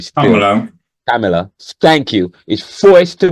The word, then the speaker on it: Kamala: What I can't pronounce her name still. Kamala, Kamala.